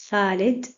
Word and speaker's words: Khalid: So if we have words like Khadija, it is written KH and pronounced Khadija. Khalid, Khalid.